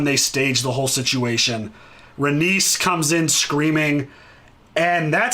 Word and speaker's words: Rhaenys: Rhaenys comes in screaming. And that scream... Rhaena. What? Is it Rhaena or Rhaenys? Rhaenys. Okay.